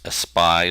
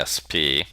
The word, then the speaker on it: espy: Our next word on the list is usually pronounced espy. Some people say SP. Probably best to remember espy because it has that SPY, spy thing, that is a good mnemonic to memorize the meaning of espy.